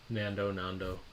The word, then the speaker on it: Nando's: I think I was pronouncing it wrong. Nando. Yeah. Nando's.